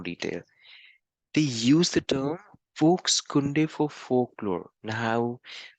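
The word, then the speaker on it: Volkskunde: they use the term folks kunde for folklore now how is folks going to pronounce a spell that is v-o-l-k-s-k-u-n-d-e but it's pronounced as folksunday it's a German word and it's pronounced as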